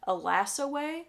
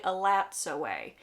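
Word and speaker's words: Elatsoe: book and I always heard the name as alas away like there was a silent T in the name like the T wasn't pronounced well it turns out it's actually supposed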